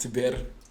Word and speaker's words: Tèbir: My Tèbir, it's actually pronounced Tèbir.